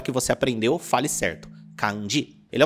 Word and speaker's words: kanji: Tem muita gente que fala kanji ou kanji. O correto é kanji. E tá tudo bem falar assim antes de ter estudado, mas agora que você aprendeu, fale certo. Kanji.